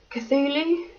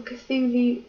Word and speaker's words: Cthulhu: And this is I think you pronounce it Cthulhu. That's how I normally pronounce it. But yeah, this little Cthulhu plushie.